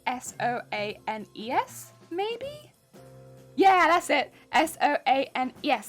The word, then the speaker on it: Soane: Soane's. I think Soane is spelled S-O-A-N? Soane, like that. Rather than like Soanes. It's like Soane's. Yeah, would recommend it.